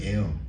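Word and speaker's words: heir: 함께한다 상속이라는 뜻이잖아요 발음은 에어 공기랑 똑같아요 야 이게 무슨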